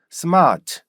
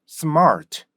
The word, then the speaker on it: smart: 우선 습 습 우리는 어떻게 시작했어요 스로 시작했죠 스마트 그죠 그래서 스마트가 된 거예요 근데 습 스마트라 발음을 습으로 시작해 보세요 습 Smart 습 Smart이 발음이 돼요 어 습을 하면 신기하게도